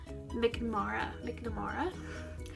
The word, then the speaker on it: McNamara: with Love Actually by Allie how do you pronounce the name? McNamara.